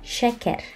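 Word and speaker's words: şeker: Nah, ada huruf se, ada huruf she yang ada ekornya kita bacanya she seperti pada kata syekh sama she. She. Contoh kata dalam bahasa Turki adalah shaker.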